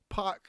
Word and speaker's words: PAC: it's just nonsense because he has never been called pork ever like pork is not his name or park or however it is people in america pronounce it that's not his name park is the name he has used since he was a